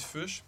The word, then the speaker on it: Fuchs: Moi je dis fuchs, comme dans la couleur fuchsia. Mon père disait ça, mais en fait c'est fuchs. C'est comme renard en anglais, tu sais, fox.